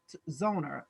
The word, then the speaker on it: Zoner: a lovely guest miss tamara zona who is zoner correct am i saying the name correctly yes